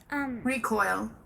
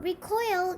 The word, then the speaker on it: recoil: two definitions, and they're both pronounced differently. So recoil can be a verb and a noun. The verb is pronounced Recoil. The verb means suddenly spring or flinch back in fear, horror, or disgust. Or draw back. Yep. The noun Recoil. is pronounced like that, and it means the action of recoiling.